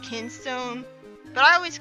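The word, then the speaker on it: Kinstone: my favorite thing about as a whole the kind stone system well I guess it's pronounced kin stone but i always call that kind so know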